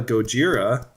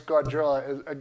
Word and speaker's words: Gojira: like everybody apparently likes Goda Goda is what they said so how do you pronounce it you say gajira I said goira Goa oh yeah it is Gojira there's no D in there sorry but um yeah